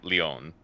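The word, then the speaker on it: Lyon: oh okay number one it's actually not pronounced if anything would be Leon Lounge oh my gosh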